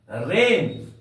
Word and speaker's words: reign: दूसरा वर्ड लेते हैं हम लोग रेन, REIGN। प्यारे बच्चों, यहां भी जी के बाद एन है, इस जी का उच्चारण नहीं करेंगे। रेन, जी साइलेंट है।